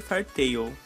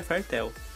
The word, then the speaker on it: Fairy Tail: fala fartel Fairy Tail Eu sempre falei Fairy Tail mas de acordo com o Google a pronúncia correta seria fartel Mas enfim de homem